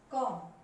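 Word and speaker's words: comb: इसमें देखिए आपको बी दिखाई देगा। जब हमने इसको बोला, क्या बोला आपने? कॉम।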